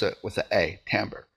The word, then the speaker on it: timbre: about chords within the sound and it's called tamber we spell it t i m b r e but uh we pronounce it with a a tamber it's also commonly called the tone of the